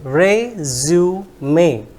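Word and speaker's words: résumé: something like that then this is resume resum may not resume so most of the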